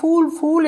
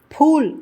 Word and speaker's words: फूल: இந்த ஃபூல் என்பதை பலரும் ஃபூல் என்பார்கள். அது தவறான உச்சரிப்பு. ஃபூல் என்று தான் சொல்ல வேண்டும்.